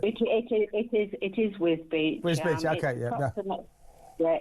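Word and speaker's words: Wisbech: I think is I think it's I keep being told it's Whiz Beach is how you pronounce it. It it is it is Whiz Beach.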